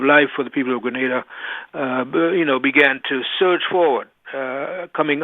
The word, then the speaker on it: Grenada: First of all, am I pronouncing Grenada right? You are pronouncing Grenada right. You're absolutely correct. It's not Granada, okay. Not the city in Spain.